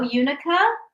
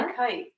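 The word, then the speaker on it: unakite: So we have the yellow Unica. Yellow. Unicite. Why are you saying Unica? Oh, I'm sorry. Unicite.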